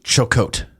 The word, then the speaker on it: jocote: And it's actually pronounced chocote.